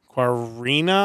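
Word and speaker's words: Qarina: the album is transcendent uh quina I believe is how you pronounce that uh q a r i n a if you're looking for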